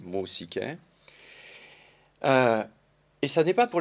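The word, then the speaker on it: μουσική: qui est grec moustiquaires si j'essaye de le prononcer à l'antique tel qu'on peut à peu près le restituer mossi caire et ça n'est pas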